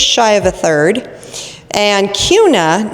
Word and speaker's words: Kuna: And Kuna, not Kuna, so if you start calling it Kuna, they're gonna know you're not from here.